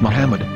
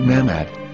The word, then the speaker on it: Muhammad: According to Ben Yehuda's Hebrew English dictionary, it is correctly pronounced as Muhammad, not Mammoth.